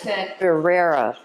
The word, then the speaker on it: birria: Well, if you're going to say it right, right. birria. Birria. Birria. You got to roll your R's.